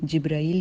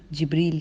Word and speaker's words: Jibreel: तो हम लोग ज़्यादातर उर्दू में जिब्राईल कहते हैं और जो अरब्स हैं वो जिब्रील कहते हैं। तो प्रोनाउंसिएशंस तो सब ठीक हैं और क्योंकि ये अरबिक